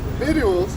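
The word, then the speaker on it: victuals: This second 16 to 21, it says, "Behold viddles." Viddles, if I say it right, is actually the C is actually silent.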